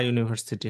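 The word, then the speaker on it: university: আচ্ছা, এরপরে শি ইজ now student of আ ইউনিভার্সিটি হবে। হ্যাঁ, ইউনিভার্সিটির আগে এটা ইউ এর উচ্চারণ হয়, আর্টিকেল বসে হচ্ছে।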